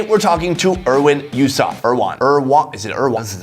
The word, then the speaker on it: Erwan: Hello, is it Erwin or Erwan? Erwan.